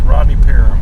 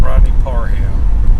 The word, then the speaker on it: Rodney Parham: to Little Rock and they call it Rodney per Parham it's like no it's Rodney peram not Rodney Parham you got it wrong you know people ain't